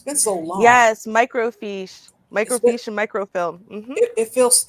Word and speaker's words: microfiche: were recorded on fish is that how you pronounce it fish it's been so long yes microfiche microfication microfilm it feels it's it felt so